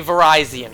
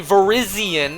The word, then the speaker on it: Virizion: leave the house, shiny Virizion showed up. Not shiny Virizion, it's not pronounced Virizion. Just like it's not Rayquaza, it's Rayquaza, it's Virizion.